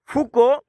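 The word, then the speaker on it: Foucault: पचारिबो अज्ञतार आवरण कहले कौन बुझ हाउ डज फोको हाउ डज फुको पिलाने यहाँ देखु टे पूरा प्रोनाउंसिएशन पिलाने टे पढ़े टे भल अच्छे टे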